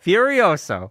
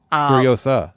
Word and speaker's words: Furiosa: business yes starting tomorrow no Furioso oh furiosa furiosa I'm going keep saying it wrong fur because I'm saying it wrong now furiosa yes um I my